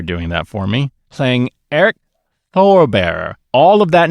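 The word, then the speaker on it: Airk: that for me playing Eric Thor bearer all of that name is unspell because it sounded like he said Eric right but I thought it was Eric it's spelled a i k oh okay he's the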